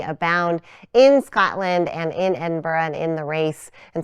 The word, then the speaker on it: Edinburgh: who are like us you may be tempted to read this word here on the sweatshirt and say Edinburg Edinburg but we don't say it like that nope now you know the official way to say it and if you're confused it is Edinburgh it's a little bit soft on the end but if it feels